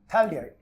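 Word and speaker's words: phthalaldehyde: तो मैं लिखूंगा benzene one टू डाई कार्बडिहाइड common name थैलडीहाइड ठीक है कॉमन नेम थैलडीहाइड थैलडीहाइड थैडिहाइड ये पीएस साइलेंट है बेंजीन वन टू डाईल्डहाइड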